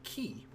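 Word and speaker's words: き: a single syllable whereas this one is key or like an english key like you're keying or keying a lock that's that's how i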